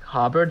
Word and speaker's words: Hobart: Harvard 5K Harbor yeah if you don't pronounce Hobart as like Hubbard you're a hovertator by